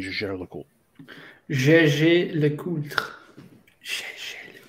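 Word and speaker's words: Jaeger-LeCoultre: So in French, you would pronounce this because you don't pronounce ER as like eh, right? So it's Gégé Le Coultre. But they pronounce it Gégé Le Coultre. Whenever you like hear them speak it, like call the name, it's like eh. It's a little strange.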